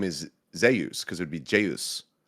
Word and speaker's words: Zeus: Hungul, his name is Zus because it would be Jus. So, everyone calls him Zus instead of saying Zeus, right?